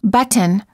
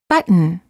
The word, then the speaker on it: button: example we don't say button or button we say button hold the t as in but and then add an N without releasing the tongue from the gum Ridge but similarly don't